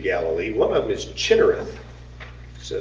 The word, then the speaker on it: Chinnereth: One of them is Chinnereth. So it's spelled C-H-I and then two N's.